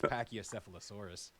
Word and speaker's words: Pachycephalosaurus: I saw in chat earlier, and that doesn't look like it's spelled that way, but it's Pachycephalosaurus.